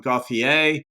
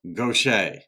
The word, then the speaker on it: Gauthier: was pronouncing it um Gothier and I learned that in Louisiana, southern Louisiana, it's pronounced Gocha.